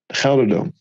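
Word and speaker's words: GelreDome: Gelderdome. Gelderdome. Yeah. It's in the Netherlands. Yeah. It's the G. It's like really, really, really, really hard. Okay. Gelderdome. But maybe Gelderdome. You say Gelderdome.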